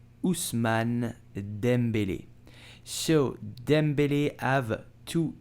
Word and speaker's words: Ousmane Dembélé: and he's very good so how do you pronounce his name you will say usman dembele usman dembele so dembele have to e with an accent